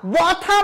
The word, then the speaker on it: ব্যথা: আকার আকার রয়েছে অর্থাৎ জ ফলার পরবর্তী ব্যঞ্জনের সাথে যদি অথবা আ থাকে তাহলে তার উচ্চারণ এ হবে সেজন্য ব্যক্ত ব্যর্থ ব্যথা ব্যথা না ব্যা ব্যথা কেন ব্যা হয়েছে কারণ জ ফলার পরে যে ব্যঞ্জনটা রয়েছে সে ব্যঞ্জনের পরে যদি অথবা আ থাকে তাহলে এ উচ্চারিত হয় সেই নিয়ম অনুযায়ী ব্যাথা ব্যা ব্যথা বলা যায় না ব্যথা তাহলে আমরা এখানে